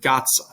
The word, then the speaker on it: gazza: But when it does, you can think of the pronunciation almost like modern Italian, a D and a Z together. So you would pronounce that word gazza, right? It's got that D and Z together.